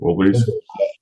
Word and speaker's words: Wilburys: Traveling Wilburys?